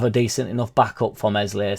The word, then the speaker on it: Meslier: decent enough backup for mli silent s well we did have